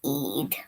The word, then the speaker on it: Eid: Muslims celebrate the end of fasting and through prayers give thanks Eid, pronounced Eid, is also a time of giving to others.